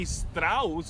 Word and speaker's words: Strauss: E a calça é Levi Strauss. Eu não sei como é que pronuncia o sobrenome Strauss, dele.